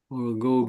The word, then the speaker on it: orgoglio: Or Goglio. Or Mhm. Goglio. But you pronounce orgoglio. Yeah. The GL is L, just L.